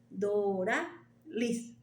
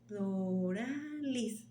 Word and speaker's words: Doralys: And you say it like this: Doralys. Doralys. And then put it together. Doralys. Or you can just call me Lys.